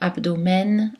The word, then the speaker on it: abdomen: cette terminaison et silencieuse les terminaisons e n dans les mousses avant souvent issu du latin ou d'autres langues que le français on prononce les voyelles oral avec le n comme dans l'abdomen amen carmen dans certains mots eux